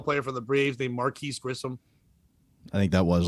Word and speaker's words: Marquis: He's supposed to be Marquis, but he's Marquise because it's the Mercury Marquis, but he said it wrong.